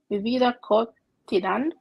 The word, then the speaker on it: cotidiana: Mi vida cotidiana. Diana. See how it's spelled at the end? Cotidiana.